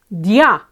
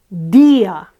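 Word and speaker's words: día: the accentuated one so we would normally expect this word to be pronounced DIA however it's not pronounced it's pronounced DIA what does that mean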